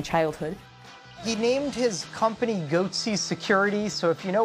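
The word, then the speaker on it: Goatse: He named his company Goatsy Security, so if you know what Goatsy is, G-O-A-T-S-E, I'm not going to explain it. Hey, there's a gaping security flaw here. No, Mommy, make it stop! Goatsy Security, who are these guys?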